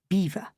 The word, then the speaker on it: Belvoir: These subtleties, not to mention being in the no when it comes to pronunciation, Belvoir, for example, is incomprehensibly pronounced beaver, are inherited with birth.